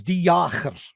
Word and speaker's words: de Jager: Is it Jager? Okay, the original correct pronunciation is Jager. Okay. When we came to Canada, we modified it a bit and made it more French. Jager.